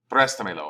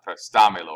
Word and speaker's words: préstamelo: they will sometimes put an accent over that syllable right there. So you speak a little bit louder. So it's préstamelo, and so it's not prestamelo or prestamelo or prestamelo or something like that.